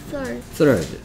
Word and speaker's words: third: Third. T I R T T Third? Third? 이라고 발음할 것 같은데요. Third라면 third. Third 할 때 시작할 때 왜 혀를 무냐? 혀를 물러야 되는 소리가 나기 때문에.